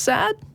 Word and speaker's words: Saad: so let's start with is it pronounced sad hi hey how are you guys doing good you're in pakistan and you're on with tracy and phil and did i pronounce your name right yeah very few people pronounce my name right i usually end up